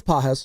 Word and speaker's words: Pages: Pages, I don't even know if I'm pronouncing that right. No, it's Pages.